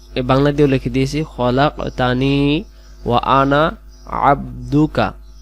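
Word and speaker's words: عَبْدُكَ: লিখে দিয়েছি খলাকতানি আনা আবদুকা এইটা হলো আইন অক্ষর গলা লাগবো আবদুকা আপনি আমাকে সৃষ্টি করেছেন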